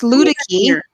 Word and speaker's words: Luedecke: I had to think about how to pronounce it. Yeah, it's Luedecke.